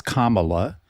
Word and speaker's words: Kamala: Well, I think that was a comment, so I uh the only thing I'll say is um it is Kamala uh uh the pronunciation of her name.